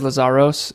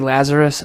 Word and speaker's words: Lazaros: Brother, so first of all, stepfather's last name, we'll get into it, and everyone says Lazaros. It's actually Lazarus, but I do not care.